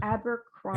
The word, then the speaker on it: Abercrombie: La Senza, he has, Victoria's Secret, he has how do you pronounce that? Abercrombie.